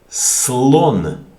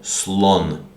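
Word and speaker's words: слон: Okay, for example, in the word read, how do you pronounce this word, which means elephant? Slon.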